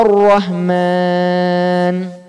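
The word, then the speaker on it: الرحمن: contohnya tadi ar-rahman tebal Jadi jangan sampai bacanya seperti senyum ar-rahman salah Pak karena roh kalau berharokat fathah atau rok berharokat dhomah nih tebal identiknya bacanya lebih Karang mencoba jadi ar-rahman bacanya agak monyong atau Rohman Nam coba kemudian rodemah rubah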